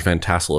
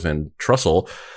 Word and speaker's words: Van Tassel: we're officially on air making a correction George Van Tassel is the guy's name Well Jack we formally apologize to the George Van Tassel estate for incorrectly naming him George Van Trussell so are you telling me that you said